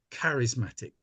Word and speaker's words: charismatic: the word charismatic well it's pronounced with a K like it's a hard CH so it should be charismatic but only a small